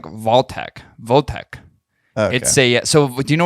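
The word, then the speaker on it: Wojtek: It's actually pronounced like Voltec. Okay. So do you know what who Votek was or what Votek was?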